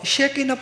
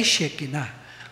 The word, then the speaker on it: Shekinah: At ito po, Shekinah po, ang pagkakabigkas dyan. Hindi po Shekinah. Ang gumagawa lang po noon ay yung mga Amerikano.